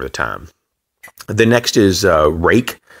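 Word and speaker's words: Ruike: The next is Rake. It's spelled R-U-I-K-E, and they're an awesome company.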